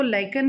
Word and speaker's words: lichen: लाइकन से बनाया जाता है, जिसको कुछ बच्चे लिचन्स भी प्रोनाउंस करते हैं, LICHENS।